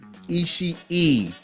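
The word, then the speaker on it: Ishii: so long pause Tomo isi e there are two eyes you pronounce both of them on the end that is three eyes in the name Tomo isi e not isi is e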